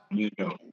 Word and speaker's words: Mandeaux: Now, folks, if you want to check it out, go to is it Mandeaux? Is that how it's pronounced? Mandeaux.